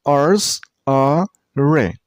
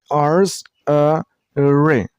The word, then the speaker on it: archery: This word has only 3 syllables. Archery. And while you pronounce the word, you should stress on a per syllable. I mean on R's. You should pronounce the middle syllable very shortly.